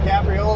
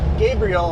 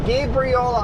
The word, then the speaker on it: Gabriola: See you guys tomorrow on G Gabriola Island. Not Gabri Gabriela Island. There we go. I'm like I'm saying it wrong again. Gabriola Island. Like the angel.